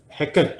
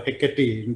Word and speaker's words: Hecate: Anyway, to start off, in Macbeth, Hecate or Hecate, depending on how you pronounce, the goddess of witchcraft, she says, and you all know, security is mortal's chiefest enemy.